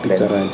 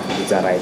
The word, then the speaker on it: Bitsaride: Can you just spell it nicely? B-I-T-S-A. Okay, Bitsa Ride. Yeah, Bitsa Ride.